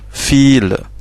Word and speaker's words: viel: Comme fil, beaucoup. Vous voyez que le V ici, c'est un V, mais il se prononce F.